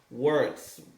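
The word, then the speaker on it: Wirtz: Words. Am I pronouncing his name right? Verts, whatever his name is. It's German. Yeah. Verts, yeah.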